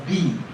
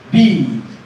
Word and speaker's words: bead: a word such as bead. Bead. Bead. Now, at the end of my pronunciation of bead, there is a slight Z, but it's not very pronounced.